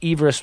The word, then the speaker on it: Everest: is pronounced eve rest with the eve pronounced as the woman's name but everybody refers to